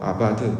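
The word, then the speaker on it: עבד: 이야기를 하는 거죠 그래서 단어도 아바드 또는 에베드 라고 이제 히브리어로 발음을 하는데요 하나님의 속성을 가진 자가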